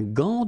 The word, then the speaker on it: gant: Un gant de toilette. Remember, G-A goes like ga. Okay, g. But in that case, you've got this an, so it's nasal, gant, and then final T is not pronounced here.